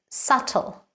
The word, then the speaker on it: subtle: the correct pronunciation is subtle the B is completely silent it means not obvious